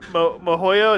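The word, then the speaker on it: miHoYo: Shout out to the Mohoyo, is how you pronounce it, corporation for supporting the stream.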